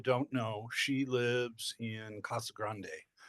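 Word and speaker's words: Casa Grande: Um, for those of you that don't know, she lives in Kasa Grande, which uh when I first moved to Arizona, I pronounced Cassag Grande.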